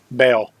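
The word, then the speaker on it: Baal: the most important question how do you pronounce the demonic goats name bail see I totally would have said ball Oh Galway I'm just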